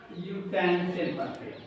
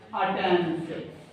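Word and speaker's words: utensil: आ आया है, आ means यूटेंसिल यूटेंसिल पढ़ते हैं। यूटेंसिल, यूटेंसिल में आपका आप यूटेंसिल लिखें और लिखें अटेंसिल। मोस्टली बच्चे अटेंसिल पढ़ते हैं।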